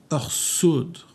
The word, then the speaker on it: ressoudre: Ressoudre, on ne dit pas ressoudre, on dirait orsoudre.